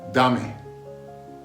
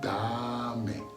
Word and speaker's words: dame: Dame. That's how you say it. Dame. Again, da-me.